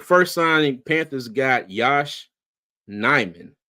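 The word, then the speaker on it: Nijman: signing Panthers got Yash nyman J yeah hope that Jay is silent hope I a messing it up you said it right said it right all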